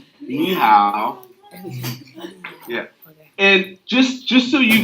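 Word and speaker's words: 你好: And to say hello, it's ni hao. Ni hao.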